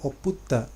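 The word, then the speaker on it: ompunta: Om punta, tetapi kita tulis, kita baca oputta.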